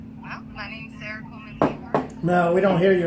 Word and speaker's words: Wanderlust: It's Wanderlust, you know. Oh, okay. It's just with an A instead of an O.